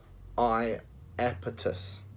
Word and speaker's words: Iapetus: And it's spelt Iapetus and pronounced Iapetus, okay?